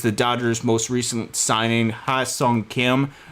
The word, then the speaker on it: Hye-seong Kim: I believe it's Hye-seong Kim, not Ha-seong Kim.